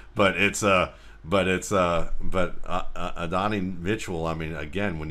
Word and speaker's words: Adonai: the sense that it's the English spelling for the Hebrew word for God, actually pronounced Adonai, but Adonai Mitchell, I mean, again,